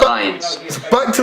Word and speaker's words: Reims: I went to Reims. Pronounced Reims in English.